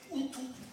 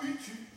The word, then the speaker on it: Houtou: C'est comme Poussin, vous Oui. dites Poussin, prononcez Houtou et pas Utu.